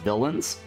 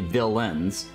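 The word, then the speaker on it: Villeins: bad guy right but it's pronounced similar to villain the bad guy but it's spelled differently uh so that game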